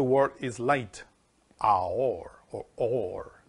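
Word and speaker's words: אור: is light, Aor, or Or. It's pronounced Or. That light is pronounced with Aleph, Vav, and Resh.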